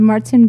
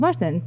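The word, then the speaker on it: Märzen: So the Marzen beers are the traditional German. It's called Marzen because in German it's March.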